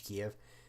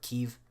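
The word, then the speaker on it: Kyiv: I was expecting primarily, if any offensive, primarily across here, just a straight dash towards Kiev, or Kiev, which is the proper term, or proper way to say the name, because again, Russia's plan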